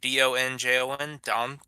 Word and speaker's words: donjon: Donjon.